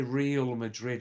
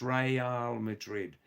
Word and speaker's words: Real Madrid: We can't say Real Madrid. It's got nothing to do with Real Madrid or Unreal Madrid. The proper pronunciation, Assad, is Real Madrid. Real. Real in Spanish language means royal, king and queen.